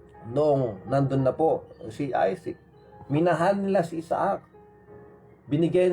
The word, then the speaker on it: Isaac: Isaac kasi ang pronunciation nila sa English eh. Kung babasahin mo naman, Isaac. Sa Ilocano o Tagalog, Isaac. Sa English, Isaac. Yan.